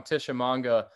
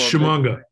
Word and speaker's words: Shimanga: You know, how prepared is Emmanuel, and I'm going to pronounce this wrong, Tishomanga? It's Shimanga. Shimanga.